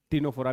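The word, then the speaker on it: Ctenophora: अपने आप समझ जाना टीनो फोरा भी साथ है टीनो फोरा में सी साइलेंट है टनो फोरा पहला ऑर्गन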